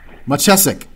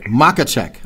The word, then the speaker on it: Machacek: click on that and they can hear me pronounce it correctly. Machacek. Machacek.